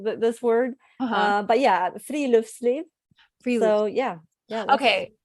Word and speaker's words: friluftsliv: The word that it's fruit sleeve. Is that how you say it? Yeah, that's pretty close. Okay. And don't worry, you're in good company. Everybody worries about butchering this word. Uh-huh. But yeah, friluftsliv.